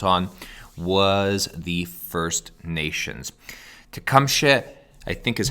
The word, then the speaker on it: Tecumseh: able to count on was the first nations tecumseh i think is how you say it let's just see what siri says siri can you please pronounce this tecumseh tecumseh is the leader of the shawnee first nation